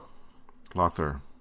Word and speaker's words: Lawther: Lawther.